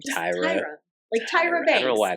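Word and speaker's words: Tyria: never pronounce her name Tyra Tyra I don't know why I call her because spelled weird it's like t y r i a like teria but it's not said that way Tyra her parents over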